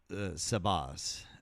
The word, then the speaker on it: Sabah: Those are called sabahs. It's spelled Sabaz. Sabah.